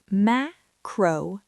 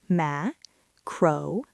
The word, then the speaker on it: macronutrient: The word is macronutrient. 5 syllables. The primary stress falls on the first syllable, ma. Say it slowly. Macronutrient.